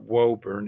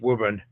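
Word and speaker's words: Woburn: uh factories and wub Mass not it's not wurn it's wubben trust me I've lived in Massachusetts the names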